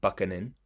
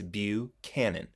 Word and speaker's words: Buchanan: with a man named James Buchanan not Buckhannon as I know a lot of students of mine in the pass of one would pronounce his name it's Buchanan and he's a Pennsylvanian which